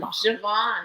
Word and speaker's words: Siobhan: Ben Javon. Javon. Isn't that Javon. beautiful? Did you know that's how it's spelled?